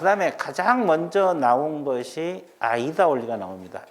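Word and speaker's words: AIDA: A-I-D-A. 아이다 원리라고 읽어요.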